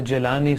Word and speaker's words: Jilani: Actually, the Jilani is the Arabic pronunciation. Acha. The Arabic alphabets does not include Gaf. Huh. Whereas the Persian, the Farsi, they use the letter Gaf, Gaf. Gilani. So both ways, right?